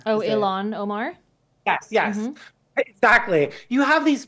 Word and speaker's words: Ilhan Omar: have people like AOC, Jasmine Crockett, and like Eileen what is it, Eileen? How do you say her last name? Oh, Ilhan Omar?